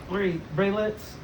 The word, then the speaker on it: Braylit: Doing an interview with Braylits, the Easters.